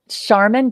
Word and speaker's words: Charmin: Charmin, just like the toilet paper, only with an S, because I'm smarter, I'm stronger, I smell better than the TP, and I will clean up DC.